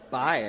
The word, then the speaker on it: Bai: It's either pronounced Bay or Bai. What? How's that spelled? B-A-I. B-A-I. Mm-hmm. B-A-I. Bye, I guess. Yeah, bye.